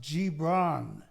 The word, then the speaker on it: Gibran: his name is Khalil actually spelled GI by pronounce Gibran Khalil Gibran a Polynesian naturally lebanese-american there goes my my